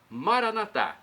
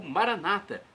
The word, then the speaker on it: Maranatá: E Maranatá, como dizemos nós católicos, ou Maranata, como dizem nossos irmãos separados, os evangélicos ou protestantes. Não importa a pronúncia, o significado é o mesmo.